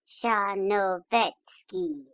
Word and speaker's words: Tcharnovetsky: It is oddly spelled, but it is pronounced a little broader than you give it, quite as though it were written Tcharnovetsky, in fact, with the accent on the third syllable.